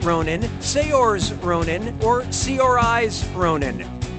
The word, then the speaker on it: Saoirse: Brooklyn yeah sure you do how do you pronounce uh her name Saoirse Ronan cyersha Ronan sayors Ronan or Cris Ronin foreign says